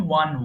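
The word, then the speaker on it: won: আচ্ছা, এরপরে বলি, আমরা সারা জীবন দেখেন উইন, ওন, ওন বলেছি, এটা কিন্তু ওন হবে না, উচ্চারণ হবে উইন, ওয়ান, ওয়ান।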